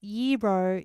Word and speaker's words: gyro: Um, where's the little Oh, the word pronounced yro is Greek for turn referring to the rotating meat on the spit.